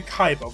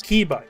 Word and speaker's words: Kiba: think like car calls be Kaiba but it's pronounced kba that's not everybody you'd